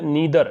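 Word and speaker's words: neither: कि ही, वह, will नीदर, देखो नीदर भी बोलते हैं इसको, नाइदर भी बोलते हैं इसको, आपने नाइदर भी पढ़ा होगा, नाइदर नोर, नीदर नोर, दोनों उच्चारण पॉसिबल होते हैं।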